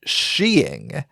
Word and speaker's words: skiing: that's relatively incorrect, though apparently it is an acceptable, albeit archaic pronunciation of the word, which I find fascinating and did not know prior to this research.